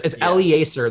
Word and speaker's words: Elieser: Yeah, and it's a Latin name, so that means that they pronounce every vowel in there.